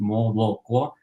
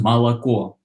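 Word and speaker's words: молоко: That's how it's written, moloko, and it's pronounced malako.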